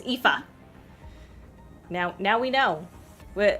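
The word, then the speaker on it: Aoife: Not a not if ea I think I think I've heard like ify and stuff. Yeah. No, it's epha.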